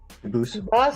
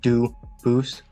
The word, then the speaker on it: Dubus: I know a family with that the same exact spelling in American. They do pronounce it dubis, but you said you pronounce it dubus as the original. Duboose as the original French.